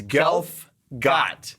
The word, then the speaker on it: Gelfgot: Delph golf wait tell me Allah it's alright it's it's uh it's it's golf god that's golf God that's right because for years I've been pronouncing it incorrectly and I was never corrected